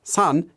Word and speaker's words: 산: actually written using this Chinese character which is pronounced as son and means mountain now to understand that I